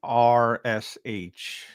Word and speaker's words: Arsh: Spell that for me, by the way. ARSH.